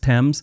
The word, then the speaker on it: Thames: wait for them to correct you it's actually pronounced Thames and it's the River Thames not Thames river